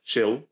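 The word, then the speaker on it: Gilles: sitting in front of chill the uh presenter of the show oh is that how you pronounce it I've just been saying child so this is a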